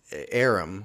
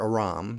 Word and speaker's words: Aram: some blinded aramaians okay so arum or aram depending on how you want to pronounce it they sent troops to